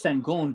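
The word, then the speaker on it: Şengün: name you talking about sengun sengun yeah that's sangoon dude is good he's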